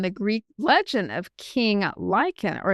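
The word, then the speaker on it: Lycaon: Um the linguistic origins of that is uh from the Greek legend of King Lyen or it's and it's spelled like L Y C AO N.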